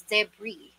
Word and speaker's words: debris: they're priests they're breeds but the current pronunciation for this one is debris again say it debris